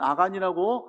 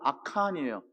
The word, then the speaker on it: 아칸: 이 단어를 가지고 언어 유희를 하는데 우리는 아간이라고 한글만 성경으로 있지만 히브리어 발음은 아칸이에요.